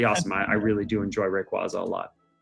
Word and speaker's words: Rayquaza: I really do enjoy Rayquaza a lot.